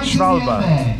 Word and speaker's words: Schwalbe: How do you pronounce this? Schwalbe.